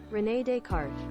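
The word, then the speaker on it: René Descartes: Is it Rene Descartes? First suggestion, Rene Descartes. Pronunciation, Rene. Okay. Rene Descartes. Okay, I'm right.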